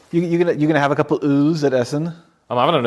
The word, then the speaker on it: Öl: It's pronounced Öl. Yeah, like ale.